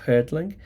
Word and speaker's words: Härtling: saber alemán todavía, pues yo pronunciaba su nombre como Peter, ¿no? Como si fuese anglosajón, pero en realidad es un escritor eh alemán, Peta Hertling.